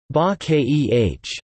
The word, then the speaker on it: 化け: The word is composed of wen zi, moji, IPA, mod, I, character, and wa ke, bake, IPA, bake, pronounced ba keh, transform.